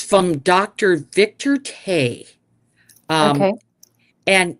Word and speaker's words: Tse: Victor Tay. Okay. And it's called Nature's Herbs Urinary Relief. Okay. And these are Dr. Victor, I think it's pronounced Tay, but it's TSE.